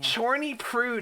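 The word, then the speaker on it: Chyornyj Prud: Chorny prude is how you say it.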